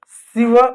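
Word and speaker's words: sieve: इसमें ई साइलेंट होगा। ई जो होता है ना, जब भी कभी अंग्रेजी के किसी भी शब्द में ई लास्ट में आए तो ई हमेशा साइलेंट होगा। तो सिवर, सिव बोलेंगे, सिव।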